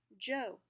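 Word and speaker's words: Zhou: the joe dynasty so you may note that the way that we would spell these verses pronounce them in terms of the english language is a little bit different okay so the joe dynasty is spelled z-h-o-u and they ruled from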